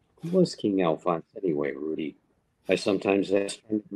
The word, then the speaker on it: Rudy: We went there often enough to have our own special waiter, Rudy, a name he pronounced with a rolled R.